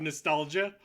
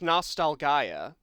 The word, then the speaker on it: Nostalgaia: you ready for Last Hero of Nostalgia? It's pronounced Nostalgaia. Oh, it's like a fantasy play on words.